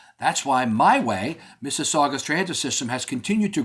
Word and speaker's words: Mississauga: It's spelled MISS AU GA. Yeah, that's right. Not IPI. We're not talking Mississippi. We're talking Missaga, Ontario, and Canada, just west of Toronto.